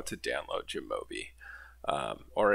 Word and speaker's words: jamovi: over how to download jimobi um or it might be pronounced yamovi I've heard both in videos so I'm not sure which is actually correct but also I'll say